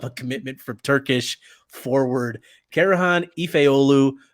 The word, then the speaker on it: Karahan Efeoglu: commitment from Turkish forward carohan ifeolu I think the g is silent other people think it's a hard G I don't buy the